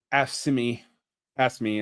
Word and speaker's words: AFSCME: The other ones that are really represented, it's not actually the NEA or the AFT, but AFSCME, AFSCME is how it's often pronounced, and the CWA are